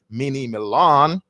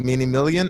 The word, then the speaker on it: DMinimilian: And I've always gotten his name wrong before because I always call him Mini Milan. But yeah, his name is DMinimilian, and I'm just going